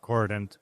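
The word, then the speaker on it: k0rdent: We pronounce it Cordent. Cordent. It also has the zero.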